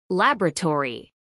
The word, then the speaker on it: laboratory: Laboratory. Cuatro sílabas. Laboratory. Acentuación en la primera sílaba.